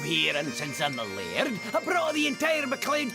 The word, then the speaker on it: laird: I'm the laird of this castle. I'm Lucky Luke. What's a laird? Oh, that's how we Scotsmen pronounce the word lord.